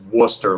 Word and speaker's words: Worcester: War Chester yeah but pronounced Worcester like Worcester Massachusetts yeah just like Worcester Mass but it's like the WR w o r c e s anyway Samuel Worcester and um he he